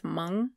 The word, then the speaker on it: Hmong: Chef Yia Vang on why he won't change his father's Hmong, or no, sorry, I think it's Hmong. I think the H is silent.